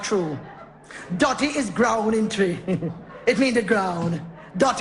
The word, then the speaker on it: Twi: him sure yeah man it's spelled twi but it pronounced tree i want good language